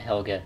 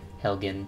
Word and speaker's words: Helgen: at hello death destruction what didn't happen at helga that's a better question helgen sorry mispronounce these weird names my lord we should